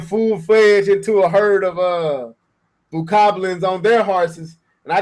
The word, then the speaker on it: Bokoblin: Well, something like if you run up on them, you say Bogoblins. How you say their names? Is that how you say it, Bogoblins? I think it's Bokoblin, like a Bogoblins.